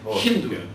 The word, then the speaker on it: Hindu: And in their language, they pronounced S with the H sound. So they called this river the Hindu River instead of the Sindhu River.